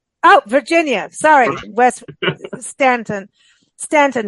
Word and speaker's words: Staunton: Stanton, not, but it's Staunton is how it's spelled.